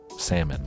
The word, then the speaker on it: salmon: kind of like salman you don't pronounce the l in salmon but just sounds funny